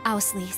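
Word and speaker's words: Auslese: us yeah it's chloe what up os lacy right i pronounce it right right cassius bride oh damn i love it i love it i love it my name is ausley also i will be participating on behalf of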